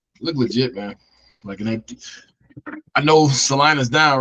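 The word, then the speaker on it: Celina: They beat Salina.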